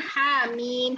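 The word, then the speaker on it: حم: Kita bacanya harusnya Hamim. H-nya yang pendek. Mimnya yang panjang.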